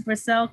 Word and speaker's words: Grisel: Yeah, Grisel. I know it's a little bit difficult to say, but it's actually only two syllables.